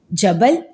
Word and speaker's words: جبل: معنی ہے پہاڑ یا کو، اور اس کا تلفظ ہے جبل۔ پھر ہے رنگ جمال، رنگ جمال کے معنی